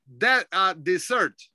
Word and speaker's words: dessert: The one with the two S's is pronounced dessert. Now, this one here is pronounced desert.